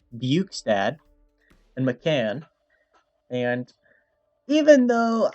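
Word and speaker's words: Bjugstad: i got jason zucker buchstad yes that's how you pronounce it buch's dad and mccann and even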